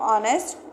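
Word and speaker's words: honest: कि वोवेल है और पहले वाले जो हमारे वर्ड है एच वो साइलेंट है तो ऑनेस्ट इनसे पहले हम एन का यूज़ करते हैं।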